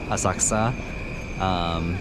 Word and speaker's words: Asakusa: So I was asking my cousin, and I guess that the U's aren't exactly silent. They're just not as fully pronounced as the other letters sometimes in words in Japanese. I thought they were actually silent, like in Asakusa, where it's like, it's a Asakusa instead of like Asakusa.